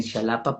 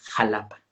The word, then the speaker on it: Jalapa: Luego eh algunos colegas cuando lo pronuncian dicen shalapa, pero no es jalapa.